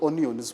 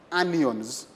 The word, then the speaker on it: anions: And then we have the anions, not onions, please, anions.